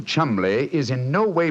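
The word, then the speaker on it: Cholmondeley: Being an American, he had no reason to know that the name Chumbllay is in no way pronounced the way it is spelled. Oh, Joe, I never thought of that. Chumlay.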